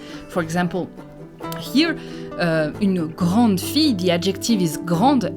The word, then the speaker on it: grand: pronounced so angr gran we don't pronounce the d at the end but grand we pronounce